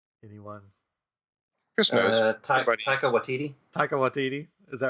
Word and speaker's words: Taika Waititi: Yeah, that episode 8, I was thinking, because the director was, I always mispronounce his name. Anyone? Chris knows. Taika Waititi.